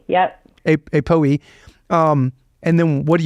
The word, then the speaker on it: APOE: apop what's what's how do you say it apoe yep a a Poe um and then what do you do once